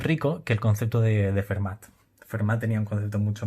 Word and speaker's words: Fermat: Es aquí cuando entran en juego, y aparecerán más tarde, Fermat y Descartes. Bueno, por supuesto la pronunciación la hago a la española. Será seguramente Fermat y Descartes.